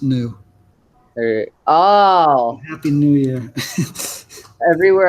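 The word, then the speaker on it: ν: it's this symbol is the frequency and it's pronounced new oh happy New Year everywhere I go I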